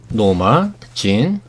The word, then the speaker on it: 노마 진: 그녀의 본명은 노마 진 몰텐슨입니다. 메릴린 먼로가 가명이고 진짜 이름은 노마 진이에요. 노마 제인이라고 하기도 하고 노마 진이라고 하기도 하는데 원래 발음은 진.